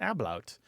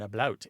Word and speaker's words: ablaut: The second kind is where there's something called an ablaut, or an ablaut, A-B-L-A-U-T.